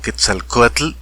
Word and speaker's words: Quetzalcóatl: algún vídeo donde una persona de españa dice por ejemplo quetzalcóatl ellos no dicen quetzalcóatl dicen quetzalcóatl o quetzalcoatl o más bien quetzalcóatl por alguna razón no se tienen problemas con ese tipo de pronunciaciones pero nosotros los mexicanos que hablamos español y queremos pronunciar palabras aztecas o palabras antiguas mexicas palabras nahuas solemos pronunciar los de esa manera diríamos quetzalcóatl y a mí